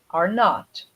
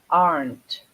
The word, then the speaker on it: aren't: the negative of the negative form of R are not okay are not what's the contraction of R